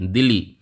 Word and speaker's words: Dili: जिसे कहते हैं DILI, दिल्ली। इसका जो प्रोनाउंसिएशन है हमारे दिल्ली से आप जोड़ सकते हैं, दिल्ली, यही इसकी राजधानी है ईस्ट तिमोर की।